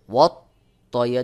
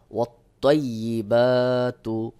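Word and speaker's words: والطيبات: অনেকে এখানে উচ্চারণ করে ওয়াত তাই। যখন আপনি ওয়াত তাই দিয়ে উচ্চারণ করবেন তখন কিন্তু ত হরফ এর বিকৃতি ঘটে যাবে, অর্থ পরিবর্তন হয়ে যাবে। এখানে রয়েছে ত, আপনি যদি তা দিয়ে উচ্চারণ করেন তাহলে সহি উচ্চারণ হলো না, ভুল হলো, অর্থ পরিবর্তন হয়ে গেল। এজন্য আপনাকে গুনাহগার হতে হবে। সহি উচ্চারণ হলো ওয়াত্তয়্যি, ওয়াত্তয়্যি।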